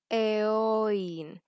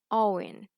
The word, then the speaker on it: Eoin: She says Eoin, but the correct pronunciation is Owen.